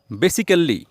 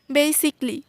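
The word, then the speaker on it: basically: interesting interesting না বলে আমরা বলবো ইন্টারেস্টিং ইন্টারেস্টিং বেসিক্যালি যেটা ভুল উচ্চারণ আমরা বেসিক্যালি না বলে বলবো বেসিকলি কি বলবো বেসিকলি বেসিক্যালি না বলে বলবো বেসিকলি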